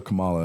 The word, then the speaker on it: Kamala: It's Kamala. It's like comma. You're putting too La. much. Kamala. You're putting too much. Kamala. You're Yeah, not. that's You're better. putting too much emphasis on the first syllable, Jamie.